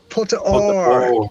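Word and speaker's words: Pota Óir: is Pota Oir. Is that my pronunciation right? Put or. Yeah.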